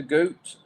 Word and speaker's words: gut: they say in germany boot to gut pronounced boot to goot goats goot boot to